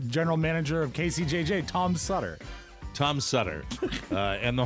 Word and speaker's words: Sutter: ohio sutter creek california sutter if you don't know rhymes with butter uh any wine drinker